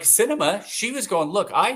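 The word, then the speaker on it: Sinema: how you say it is that's her name cinema Yeah, like the movies.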